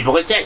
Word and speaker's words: Bruxelles: Bruxelles ou pas Bruxelles on dit Bruxelles mais pourquoi ça s'écrit comme Bruxelles tu sais en Belgique